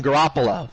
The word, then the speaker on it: Garoppolo: Garoppolo.